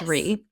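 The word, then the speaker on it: Rhea: up so Caroline re I think it's pronounced re my girl I'm GNA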